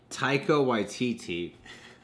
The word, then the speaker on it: Taika Waititi: With Jeff Goldblum, you know, like Taika Waititi was saying a lot. I wrote it. It's easier to pronounce here. Taika. Taika. That should be a Y. Taika Waititi. YTT. Taika Waititi.